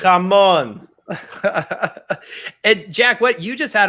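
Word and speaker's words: jamón: How to no roll one those knows the correct way to pronounce it. Jamon.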